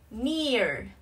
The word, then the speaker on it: engineer: Engineer, engineer. Trọng âm rơi vào âm tiết thứ ba nha.